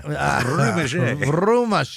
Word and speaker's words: Rumage: Also, You got to roll your R. Rumage.